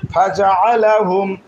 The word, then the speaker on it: فجعلهم: হুম হামিম পেশ হুম ফাজআলাহুম فجعلهم ফা জবর ফা, فا جبر فا জিম জবর যা, جيم جبر جا ফাজা, فجا আইন জবর আ, عين جبر ع আইনকে গলার মাঝখান থেকে উচ্চারণ করব।